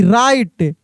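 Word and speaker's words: write: डब्ल्यू आर ई सी के rake W आर आई एस टी रिस्ट डब्ल्यू आर आई टी ई राइट डब्ल्यू आर ओ एन G wrong W आर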